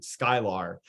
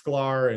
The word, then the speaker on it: Sklar: it makes sense because it's three consonants in a row so people always pronounce it skylar like for my entire life so if you ever thought it was pronounced scholar like you're not alone